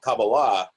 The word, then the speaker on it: Kabbalah: in the Kabbalah or the Kabbalah Kabalah as it's technically pronounced it's all about like